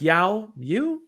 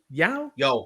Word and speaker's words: Yeo: Mike Yao? Yo, Mike like Yo.